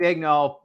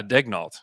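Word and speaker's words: Daigneault: know i give uh mark egnol uh credit is that even how you say it yeah degnault yeah you're right okay all right wait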